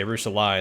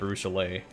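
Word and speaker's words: Arushalae: illusion ira you know i know it's a lucha nero and i say arusha line instead of arushalay so i'm gonna keep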